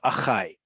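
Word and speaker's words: אחיי: Just like you have achai. Instead of saying ha'achim sheli, my brothers or my siblings, achai is those two words combined. And so it's rhyming with chai, which is not a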